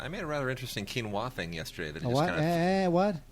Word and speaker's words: quinoa: thing oh yeah quinoa oh is that the one that's spelled like quu i n o something quinoa yes Quin heard so so let's start over so Mark I figured it was like Quin I just figured it